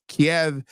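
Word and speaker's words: Kyiv: everybody is pronouncing Kev keev and it's like and because K because if I if I'm remembering the rationale correctly Kev is the Russian pronunciation God and keev is the Ukrainian pronunciation right is there that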